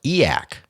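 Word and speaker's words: e/acc: a movement which is abbreviated e slac and pronounced eak which I learned from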